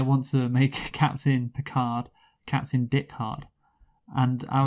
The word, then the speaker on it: Picard: want to make Captain Picard Captain Dick Hard," and I was like, Yes. "Oh yeah," and that would be my porn star surname, Picard. Because here's the thing, it rhymes with Dick Hard, but Pick Hard also